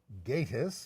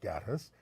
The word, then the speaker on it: Gatiss: He's Mark Gatiss, not Gattis.